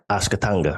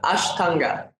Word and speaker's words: Ashtanga: And if you're into the how do you pronounce Ashkatanga, right? If you're into the it means 8. Ashkatanga, right? Almost close enough. Ashtanga.